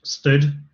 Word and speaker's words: std: was mentioning before so this um std thing is normally pronounced stood and it's the standard